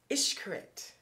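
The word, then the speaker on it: Xcaret: end-all is Hotel and it's spelled x-c-a-r-e-t but it's pronounced ishkarit so hotel is how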